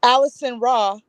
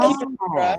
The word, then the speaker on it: Alessandra: But people with accents, they pronounce my name. They say Alissonraw, Alissonraw. But it's That is cute. Alessandra. Oh. Alessandra. So it's like if you go to Italy, that's how they say my name, Alissonraw.